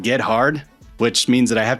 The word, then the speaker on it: Gethard: You can pronounce it any way you want, as long as you don't pronounce it phonetically, which is get hard. It's Gethard. And that's what she said.